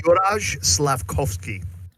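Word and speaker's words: Juraj Slavkovský: Matt, you know how to pronounce this guy's name? Juraj Slavkovsky. It'd be Juraj Slavkovsky.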